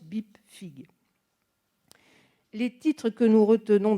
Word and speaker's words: BIPFPIG: Sous le titre commun de Bibliographie de la presse française politique et d'information générale, abrégé BIPFPIG, qu'on prononce BIPFIG.